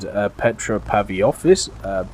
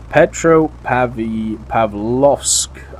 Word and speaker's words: Petropavlovsk: And also, while the Germans invaded the Soviet Union in 1941, the newly named Petropavlovsk, let's try that again, Petropavlovsk, I believe is how you say it.